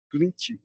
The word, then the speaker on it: Clint: Clint, é assim mesmo a pronúncia, aqui presente.